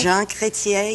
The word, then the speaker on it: Jean Chrétien: I met Jean Chrétien, is that how you pronounce it? Jean Chrétien, yes.